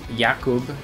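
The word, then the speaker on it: Jakob: mean you can you could always just say um yakob instead of Jacob if I ever pronounce you yakob please end my misery what is how you say it in Germany and polish yeah you know what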